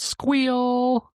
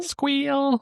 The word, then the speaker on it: Squeal: builder and it's called Squeal. Squeal. Squeal. Like how uh how the prim Yep. how the prim pronounces SQL. It's squeal.